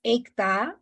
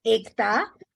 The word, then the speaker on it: Ekta: My name is Ekta. The way you pronounce it, like ache, stomach ache, head ache, heart ache, Ekta.